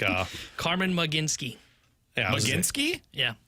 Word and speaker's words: Mlodzinski: the L is silent, so Mlodzinski. not Cameron. I apologize. It's like uh Carmen Mlodzinski. Yeah. Mlodzinski? Yeah. Not Mlodzinski.